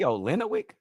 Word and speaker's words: Olynyk: just say Kelly Olynyk? No way he come and play on my No. team. Olynyk, bro, you add a whole extra.